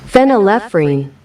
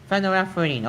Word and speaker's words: phenylephrine: How do I pronounce this? Phenylephrine. Phenylephrine.